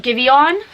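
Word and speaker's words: Giveon: and it was like it's spelled give on like one word but it's pronounced give you on i had to look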